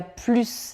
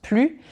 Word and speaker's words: plus: Dans le premier je dis quand il y a plus d'alcool. Donc là on parle d'une quantité supérieure. Ok, plus d'alcool sur le sol que dans les verres. En revanche après quand il y a plus de musique, je le prononce plus parce que ici, normalement, ce